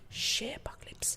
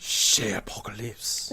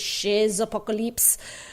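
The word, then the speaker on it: Chez Apocalypse: That's CHEZ, the French way. Shay Apocalypse. Shay Apocalypse.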